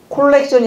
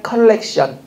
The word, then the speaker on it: 컬렉션: 호르몬 주사 맞고 콜렉션이 아니라 컬렉션.